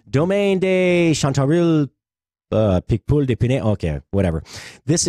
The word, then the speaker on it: Picpoul: This is kind of a, if you want to experiment with a new wine, I wish I could pronounce it. Picpoul.